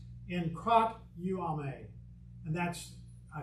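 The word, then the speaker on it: ἐγκρατεύομαι: There's our word, but this is a verb, and it's pronounced in krat uame.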